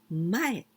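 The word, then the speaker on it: 前: Well, Sakura, cherry blossom, Zen, this kanji, the second one, you can pronounce mae, in front, mae, in front, mae.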